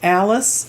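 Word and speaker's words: Alyss: and you can't feel her name is alice it's a but it's not spelled like alice like we spell it's a-l-y-s-s and she's a very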